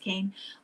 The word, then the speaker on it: Kean: Leslie Kean, uh K E A N, but I think it's pronounced Kane.